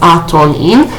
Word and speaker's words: Atonen: The spirit of light is called atonen, pronounced atonin, and it serves to make reparation for wrongdoings, okay?